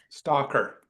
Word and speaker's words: Slater: Stalker.